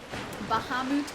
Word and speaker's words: Bahamut: I would say Bahamut, like Bahamas. Bahamut. I'm still learning. Bahamut. Say it like Bahamut. No, they said much with a hard T.